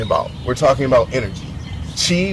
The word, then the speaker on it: Qi: Chi, which is spelled QI, means energy.